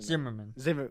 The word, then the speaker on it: Zimmermann: mm-hmm and also the zig room in telegram pronounced simmerman Zimmermann telegram I think